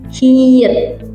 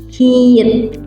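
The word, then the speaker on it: 히읗: Dan huruf terakhir konsonan dasar itu ada hiit. Hit bunyinya kayak huruf H.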